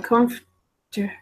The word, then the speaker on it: comfortable: It's actually kind of not saying this R. I am comfortable. I'm kind of changing the order, it sounds like. Comfortable. Quite strange. When I write this out for students to pronounce it correctly, comfortable. All right, comfortable. So I'm kind of taking out this R from this area and kind of changing it.